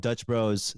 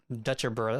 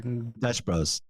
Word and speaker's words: Dutch Bros: fun of me because I called it Dutch Dutcher Bros or Dutch Bros okay my other friend from Portland made fun of me because butcher the name anyway yeah go ahead